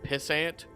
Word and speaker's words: pissant: You know, I've literally heard it pronounced pissant, which actually makes a lot more sense because, like, it's like an ant you pee on and they're useless.